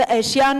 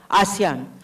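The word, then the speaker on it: ASEAN: सर ऐशियान is there. I don't know how we pronounce it इज़ इट एट एसियान? आसियान।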